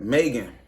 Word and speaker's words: M3GAN: this out right now it's spelled Megan with a three in it it's like M three g-a-n right Megan Megan is basically like um